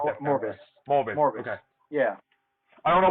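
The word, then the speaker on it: Morbius: Well, you saw the trailer for Mobius, right? Is it Mobius, or how do you pronounce that? Morbus.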